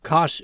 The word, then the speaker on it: cosh: The hyperbolic cosine function, pronounced cosh of x, is 1/2 times the quantity e to the x plus e to the negative x.